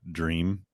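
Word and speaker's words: drēam: So it did originate from the Old English word dream. How do you pronounce the line above the E? It would be a long E.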